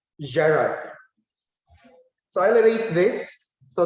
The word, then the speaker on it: gerund: years and years ago i pronounced the word as geran later on i realized that the word is better pronounced or properly pronounced as gerard so i'll release this